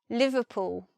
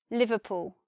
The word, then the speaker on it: Liverpool: English the most famous pool place is Liverpool Liverpool if you're from there you'll say Liverpool and